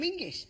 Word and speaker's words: Menzies: In fact, you should pronounce it John Mingus. Apparently, it's to do with a defunct Scottish letter Zog.